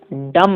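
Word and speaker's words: dumb: देखिएगा, ब्लाइंड माने अंधा, डम होते हैं, डम डम, बी को साइलेंट रखा जाता है।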